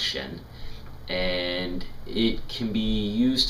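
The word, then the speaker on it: 神: that's most commonly used and in Chinese it's pronounced Shen and it can be used to describe spirit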